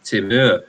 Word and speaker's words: Timur: It's actually pronounced Timur pepper.